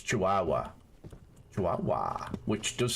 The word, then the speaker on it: Chihuahua: I was saying it how it's spelled so that you could, you know, spell it properly. It's Chihuahua.